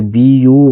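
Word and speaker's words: buy: जैसे बी यू वाई इसको पढ़ते हैं बाय।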